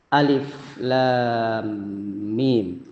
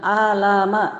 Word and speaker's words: Alif Lam Mim: Bapak Ibu huruf muqatah Jadi huruf yang dibaca per huruf kita tidak boleh membacanya Alama tidak boleh karena ini huruf per huruf alif lam mim ulama ada dua dua